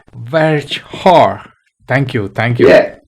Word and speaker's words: Verschoor: pronounce your second name correctly, or how it is actually pronounced? You were kind of right. It's called like Verschoor. Come again? Verschoor. Verschoor.